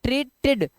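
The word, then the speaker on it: treated: ट ट्रीट ट्रीट अब ट्रीटेड अब इसको ना टी ई डी को इसको जो है इसको पढ़ेंगे ट्रीटेड टीड ट्रीटेड ध्यान रखना ईडी जो है ये ड और इड ये बन जाता है तो यहां पर ये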